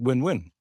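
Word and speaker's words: Nguyen: way to pronounce it some some people apparently pronounce it win-win so it's a win-win situation but I don't think that's generally but it can be pronounced like uan Joseph uan and he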